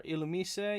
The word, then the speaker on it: Illumise: The Illumise, or Illumise, yeah, that's how you pronounce it.